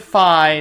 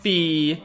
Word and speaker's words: Fi: out of the way i pronounce it phi not fee in my mind it derives from the word identify and that's how i perceived her name for the past 10 years if you disagree with